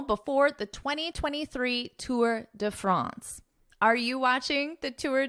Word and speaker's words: France: But in English, we pronounce the name of the country France, ants. So a more nasal A sound, ants.